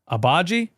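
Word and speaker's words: Agbaji: Abaji? Okay, so we got a silent G.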